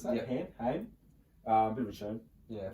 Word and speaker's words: Haim: Is that how you pronounce that? Yeah. Haim.